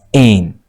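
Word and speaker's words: -ane: and then you add the suffix a N E which is pronounced as N to show that it is an alkan.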